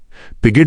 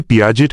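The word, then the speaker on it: Piaget: Note: Hindi में पियाजेट का सही उच्चारण और लेखन पियाजे किया जाता है, हालांकि परीक्षा के प्रश्नपत्र में पिगेट लिखा गया है।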